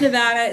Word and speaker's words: Nevada: Pronounced Nevada.